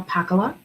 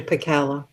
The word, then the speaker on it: Pakala: And our second speaker is Pakla, and I always feel like I'm saying your last name wrong. Am I mutilating? It's actually Pakala. Oh, okay. You are saying it wrong.